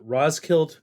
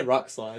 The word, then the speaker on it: Roskilde: when James Mercer of the Shins and famous producer Danger Mouse met at the Roskilde Music Festival. Is that how you say it? Yeah, I I keep wanting to say Rock Slide.